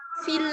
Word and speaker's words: fille: elle est une fille, fille ya. Kalau ada huruf I, kemudian ada 2 L, jadi ILL, maka dibaca I saja, tanpa L. Ya, jadi une fille, ya, joyeuse.